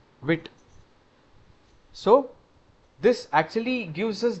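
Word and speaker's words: Vite: Pro you know uh it is actually pronounced as this one single thing known as wi wit so this actually gives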